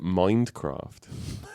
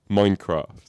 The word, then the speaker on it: Minecraft: And I pronounced it Mindcraft, right? Which is a slight Minecraft. There's very, very subtle difference. I'm impressed that he's like so tuned in that he heard the D.